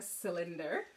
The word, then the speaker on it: cylinder: that looks like a cylinder and so when you see that word on your piece now it starts at the soft C you'll remember that from miss sha that word says cylinder and this is called